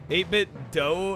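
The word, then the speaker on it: 8BitDo: 8bit do. Uh no, it's 8 bit do. They confirmed it is due.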